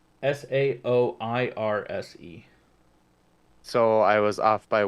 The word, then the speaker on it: Saoirse: Saoirse? It's spelled like Soar.